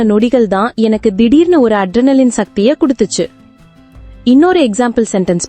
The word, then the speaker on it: adrenaline: Hi friends, இன்னைக்கு நம்ம என்ன பார்க்க போறோம்னா அட்ரெனலின். இந்த வேர்டை எப்படி ப்ரொனவுன்ஸ் பண்ணணும்னா லின்.